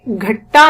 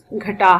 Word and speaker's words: گھٹا: مطلب ہے بادل، اور اس کو ہم نے گھٹا نہیں پڑھنا بلکہ اس کا صحیح تلفظ گھٹا ہے۔ جب آسمان پر کالے